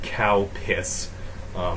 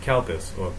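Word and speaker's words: Calpis: it's called Countess water calpus is the brand no not cow piss calpes probably how they say it here I don't know I've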